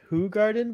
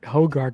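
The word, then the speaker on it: Hoegaarden: what what are you drinking kevin says it's pronounced who garden but hey i didn't say it google's saying it no but i thought i heard i thought i heard hogard and i was like what the [ __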